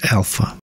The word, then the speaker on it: AllPHA: material from color faab filament is pronounced as Alpha and according to color